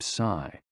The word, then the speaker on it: si: shh, with a deep sigh, which is associated with the liver. HE, pronounced like her, with a yawn, which is associated with the heart. SI, pronounced like sir, with a slow exhale, which is associated with the lungs.